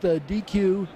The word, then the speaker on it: Deque: And now you're with DQ, and DQ is spelled DEQUE, but I joke with my family that I'm really just a manager at Dairy Queen.